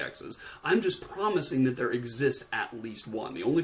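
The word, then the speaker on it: ∃: We have an upside down E, and that is pronounced as not exists, there exists. That's how we pronounce that E.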